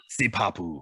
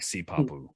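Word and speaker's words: sipapu: i couldn't say that s-i-p-a-p-u see you guys pronounce it how you want see papu i like sea popula but anyway that's just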